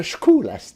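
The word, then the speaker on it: Scholastic: Non, ça se prononce Schouas. Et on m'a dit que c'était cholasque.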